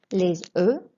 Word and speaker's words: les œufs: Les œufs. We don't pronounce either the F or the S, so it's an E sound.